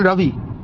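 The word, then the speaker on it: Ravi: রবি রাজেন্দ্র নারায়ণ রবি একটু ওদের স্টাইলে উচ্চারণ করে বললাম রাজেন্দ্র নারায়ণ রাভি আরেন রাভি আরএন রাভি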